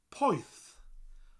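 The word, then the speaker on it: poeth: nice warm word and hot in welsh is poise pois spelled p-o-e-t-h poi f pyth pyth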